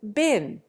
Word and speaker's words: bin: Contrariwise, most Americans put the short I into bin, making it rhyme with sin.